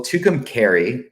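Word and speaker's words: Tucumcari: to butcher the name tukum Cari New Mexico as uh the location for Art City yeah um well tucum Cary is how you say it there's the there's a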